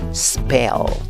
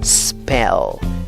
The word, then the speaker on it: spell: Spell, spell. Por favor, no le añadas una E antes de la S.